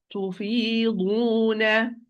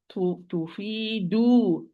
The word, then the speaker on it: تفيضون: And here it is تفيضون, تفيضون, not تفيدو, not do. It's do, not do.